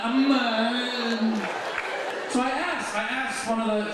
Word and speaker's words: Amman: In the States, I just say Amman. Here, Amman, Amman. So I asked one of the Jordanians, I said, why? What's with the And he said, Habibi, there's an ain in there.